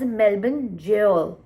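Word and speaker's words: Melbourne Gaol: And मुझे समझ नहीं आता इसकी pronunciation क्या है, and it turns out it's just another spelling for jail in British accent. So मतलब it's pronounced as Melbourne jail.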